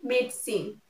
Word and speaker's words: medicine: before going to bed medicine no it will be made sin I will not be pronounced medicine next civil um it